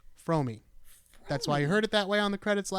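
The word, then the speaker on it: Fromme: I've learned recently that her name is actually pronounced fromi I've always said Frome I've only ever heard people say from yeah I learned recently from her herself that her name is pronounced fromi that's why you heard it that way on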